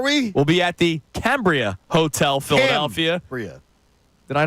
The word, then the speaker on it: Cambria: We'll be at the Cambria Hotel, Philadelphia.